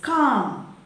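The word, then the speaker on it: calm: and what is it or how is it pronounced then c-a-l-m it is com b-a-l-m it is bomb p-a-l-m it is palm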